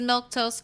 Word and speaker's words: Milquetoast: Uh, my name is Milktoast. That's how you say it.